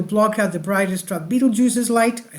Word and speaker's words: Betelgeuse: the asteroid will block out the brightest Dr Beetle juices light I said it right that time but